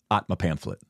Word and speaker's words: Aatmapamphlet: you pronounce it uh you just take one of the MS away Atma pamphlet Atma pamphlet yeah Atma pamp